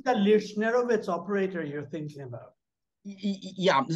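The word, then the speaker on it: Lichnerowicz: How do you pronounce it? Lyushnerovitz.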